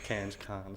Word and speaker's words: Cairns: Well, I pronounce Cairns now.